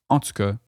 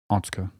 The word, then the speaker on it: en tout cas: Meaning, in any case, you can use en tout cas as you might use anyway. This is used in Standard French, but in Quebec you'll often hear this pronounced en tout cas.